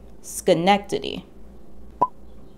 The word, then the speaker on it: Schenectady: the dutch name skrimmerhorn pronounce the sch in the front of the word the same way that you'd say in the word school now say it with me schenectady this brooklyn heights street